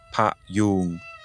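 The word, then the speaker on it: พยุง: En thaï, ce palissandre s'appelle Payoong, prononcé avec une voyelle longue, Pa-yoong. Le mot pour soutenir ou étayer est payoong avec une voyelle brève.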